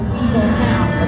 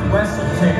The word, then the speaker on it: Weaselton: Oh, I'm not going back to Weasel Town. Okay, first off, it's pronounced Weaselton if you know it.